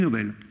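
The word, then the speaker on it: Noble: Alors, le truc qu'il faut bien regarder, c'est qu'ici, Nobel, ça s'écrit N-O-B-L-E.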